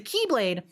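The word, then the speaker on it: χ-blade: dropped concept okay so the keyblade that is spelled with an x uh that was part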